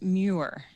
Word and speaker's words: Muir: right no problem uh correct pronunciation is newer newer okay yes so shannon